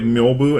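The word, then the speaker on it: Myōbu: It's called Myobu, and in a little line over a syllable in Japanese, by the way, it's just a long syllable. So instead of Myo, it's Myobu. It's a long O.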